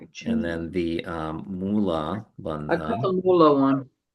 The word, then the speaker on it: mula: Moola is the root and that's either m o l a or sometimes it's spelled m u l a. Yeah. So mu la.